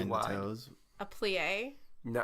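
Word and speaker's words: plié: A plie? No, it's different because it's like focusing. It's pronounced play.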